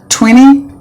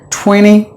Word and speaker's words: twenty: with this American English any word that contains NT in the middle or in the beginning or the end the T is always silent they silenced the T and then the pronounce the remaining for example 20 have you ever wondered somebody saying 20 look at them the T is silent 20 I got 20